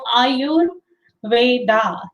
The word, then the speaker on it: Ayurveda: share my screen also on ayurveda so are you veda that's how it is pronounced and next one is